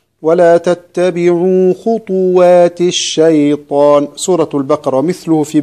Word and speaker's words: خطوات: ومثلها كلمة خطوات الشيطان، بعض الناس يسكن الطاء فيقول خطوات الشيطان، هذا خطأ صحيح. ولا تتبعوا خطوات الشيطان، سورة البقرة، ومثله في بقية السور.